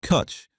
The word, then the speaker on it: Cwtch: Cwtch, the Welsh word for a warm, safe place, pronounced Cwtch, is their flagship red ale, and it is one of the most underrated beers in British supermarkets. At 4.6%, Cwtch is a red ale built on a complex